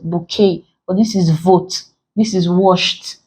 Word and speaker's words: bouquet: these options we have bouquet vote washed and tender so you pronounce pronouncing it's called that this doesn't have consonant T you see here is silent bouquet but this is vote